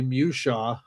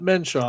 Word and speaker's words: Mushaw: We have a cryptozoologist who did a television show on Discovery by the name of Mr. Charlie Mushaw, not Menshaw. Hey, you said it right.